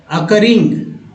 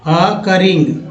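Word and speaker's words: occurring: Next देखिए अकरेंट के बाद ये रहा अकरिंग, अकरिंग, ओ को अ पढ़ा जा रहा है इसीलिए अकरिंग उच्चारण हो रहा है, ठीक है।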